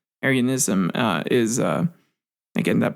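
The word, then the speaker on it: Arianism: of issues there and I hope I'm pronouncing it right that's the way it presents it's not like Aran not like the Aryan race but aryanism uh is uh again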